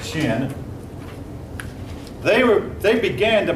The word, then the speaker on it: Qin: cute pups not humid too high in the pronounced shin they were they began to build a great